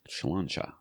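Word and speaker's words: Sláinte: He's all for us sharing our opinions beyond what just home theater and our pronunciation of Slancha. Health. Was perfectly fine. It's a cheers. Health. Okay. Slancha.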